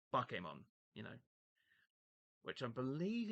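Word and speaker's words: Bakemon: I mean, yeah, I know the name looks like bake, but it's pronounced Bokemon, you know, which I believe is ghost in Japanese.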